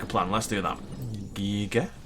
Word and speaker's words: Giga: So, a pair of big old Gigas sounds like a plan. Let's do that. Giga. Giga. Giga. It's weird that the full word is Giganotosaurus, right? It's a soft G. It's a J.